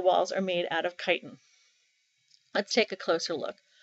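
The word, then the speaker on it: chitin: are composed of kiten remember this word looks like chitten but it's pronounced kiten so let's do a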